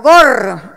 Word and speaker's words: gore: y televisión, y la del gore, o gore, como se debe pronunciar, género del cine que